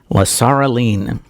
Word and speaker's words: Lasaraleen: is the name I need to learn to pronounce better, Lasaraleen, there we go, Lasaraleen, not a name I'm familiar with.